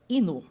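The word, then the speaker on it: 犬: Então você bateu o olho sabe que aquilo significa cachorro, mas ele tem uma leitura japonesa que é ino.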